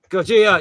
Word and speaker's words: Gojira: I can't pronounce that, but I know. Gojira.